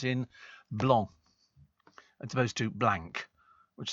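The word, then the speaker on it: blanc: C in Sor uh blong it's a French word and the C is silent well it's I mean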